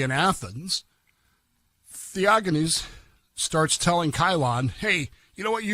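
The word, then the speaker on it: Chilon: They know that this word Cylon, that we pronounce Cylon, is actually based on Chylon of Athens.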